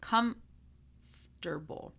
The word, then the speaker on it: comfortable: Comfortable. Okay, comfortable. It makes it a lot easier to say. Don't try to do the M and then the F. Okay, do comfortable.